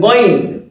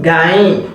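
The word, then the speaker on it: غين: Yeah, the correct pronunciation is what? Going. Say it after me. You can say it after me. Going. Yes, going. Not gain. People call it gain, so it's not gain. The Arabs, they can never say gain at all. And this is their letters, so they should know how to pronounce it. much more better than us. Yeah. So this is going, not gain, not gain.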